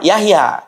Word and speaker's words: Jahja: ee kalau tulisan Y ya, kalau J itu contohnya Yahya tulisannya itu jah. J A H J A Jahja ya. Bacanya apa? Yahya kan begitu.